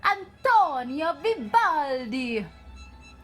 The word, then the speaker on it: Antonio Vivaldi: all you've got to say his name correctly I'm torn your Vivaldi yes you gotta make it really burn out of your lips I'm towing your Vivaldi say it just like that very good Vivaldi